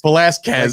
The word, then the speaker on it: Velasquez: So I was telling him just go full on Brock Lesnar heel mode and just say it how it says. Velasquez. Like Cain Velasquez.